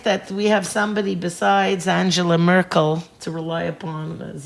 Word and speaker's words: Angela: Angela Merkel. Sure. But I don't know why, by the way, in German you would pronounce the G, soft G.